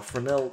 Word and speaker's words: Fresnel: We'll call this one our Fresnel exponent, because we're going to use a Fresnel shader. So right click here, type in Fresnel. It's spelt Fresnel, but don't let it fool you.